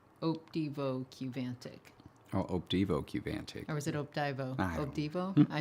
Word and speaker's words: Qvantig: And I was like, oh, they're spelling the U with a V, just like Daedalus. But no, this drug apparently is Qvantig.